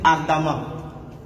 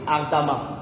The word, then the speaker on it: ardemment: Au fait, en français même, la lettre E, suivie, qui est précédée de deux M, se lit A. C'est pour ça que lorsque vous écrivez, par exemple, vous dites ardemment. Vous voyez? Ça veut dire que lorsque après E, on a deux M, on lit ça A. Vous voyez? Comme ardemment. On dit ardemment.